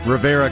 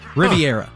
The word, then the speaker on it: Riviera: So he had played pickleball at the very exclusive Rivera Country Club. Riviera. Huh. It's spelled Rivera here. It's Riviera, right?